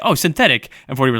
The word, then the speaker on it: Synthetique: Yeah, I think that like they want you to just say it synthetic, but like it's spelled synthetique. It's been spelled synthetique.